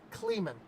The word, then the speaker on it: Kleeman: I know it's Kleeman.